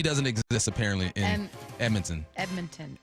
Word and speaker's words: Edmonton: And I'm watching Dallas against Edmonton. Now, yesterday I said Edmonton at the bar. They're like, no, Edmonton. Don't pronounce the D.